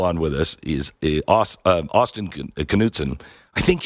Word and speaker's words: Knudsen: with us, is Austin Knudsen. I think it's, now I should have asked. I can't remember. Do you pronounce the K or not? Austin, are you there? Knudsen, yes. It is Knudsen.